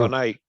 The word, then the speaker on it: Adonai: Adonai.